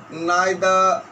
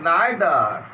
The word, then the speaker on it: neither: Each, every, either, neither, etc. There are 2 types of pronunciation. British pronunciation either, American either. British either, American either. British pronunciation neither and American neither.